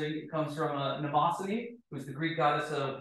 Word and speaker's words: Mnemosyne: So the name, which everyone has trouble pronouncing, it comes from a mnemosyne, who's the Greek goddess of memory.